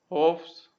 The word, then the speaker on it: Hofstadter: So how to pronounce this? It is like this: Ho Hofs. Okay, Hofstadter.